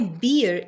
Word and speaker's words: beer: Because in the British pronunciation whenever a R come in the end of the word they are not pronouncing it. So it is beer not beer.